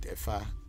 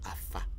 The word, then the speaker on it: Afa: Okay, people call it Efa because they are pronouncing the A. But the area I come from in Ewe land, it is not called Efa, it is called Afa.